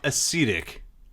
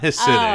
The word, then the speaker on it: ascetic: No, ascetic. Not Hasidic. Oh. Ascetic. I messed up. It's ascetic.